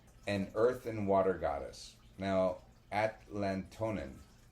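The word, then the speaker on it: Atlatonan: Now, Atlatonin it's spelled a t l a t o n a n Atlat- onin. Sounds a lot like Atlantean.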